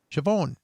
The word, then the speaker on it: Siobhan: Oh, and I'm Siobhan, excuse me, so Siobhan, excuse me, in case you have no idea how to pronounce it. Siobhan.